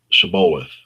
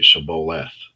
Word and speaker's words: Shibboleth: And they would say, "Say Shibboleth." But he would always say "Sibboleth." Si- Sibboleth. He couldn't say it right.